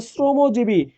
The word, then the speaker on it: শ্রমজীবী: আমি বললাম শ্রমজীবী, আমি বললাম শ্রমজীবী, উচ্চারণটা হবে শ্রমজীবী।